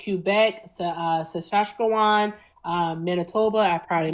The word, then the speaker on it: Saskatchewan: It's Saskatchewan.